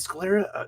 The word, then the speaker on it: Scalera: They do a is it Scalera? Did I say it wrong? You said it right.